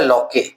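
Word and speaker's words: Locke: जैसे John लॉक है, Jean Jacques Rousseau है। एक जॉन लॉक आते हैं। लिखा हुआ है लॉके बट ये जीन जॉन लॉक है।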